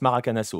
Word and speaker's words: Maracanazo: le ouais ok oui le Z est pas prononcé c'est vrai c'est vrai bon alors tu tu le prononce maracanasso voilà point mais pour